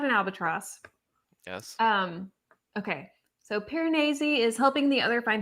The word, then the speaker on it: Piranesi: Piranesi. Piranesi. The audiobook is pronounced.